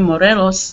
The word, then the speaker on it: Morelos: And my brother, Jose Antonio Morelos, that's the way we pronounce our name. My brother, Jose Antonio Morelos, they try to force me to pronounce it the right way, the Mexican way.